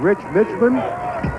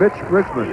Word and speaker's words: Mitch Richmond: the press conference said his name has been butchered by more people in this tournament, including us. He's been called Rich Mitchman. Milt Richmond. Rich Milman and it's Mitch Richmond.